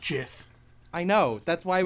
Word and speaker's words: GIF: we know what GIF is short for, but the person who made it, The says person who made it otherwise.